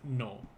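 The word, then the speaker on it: の: is to realize that the dash is going to be pronounced as no this dash here will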